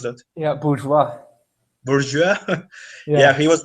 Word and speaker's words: bourgeois: Yeah, and Allende, against what people usually believe, he was red bourgeois. How do you pronounce that? Yeah, bourgeois.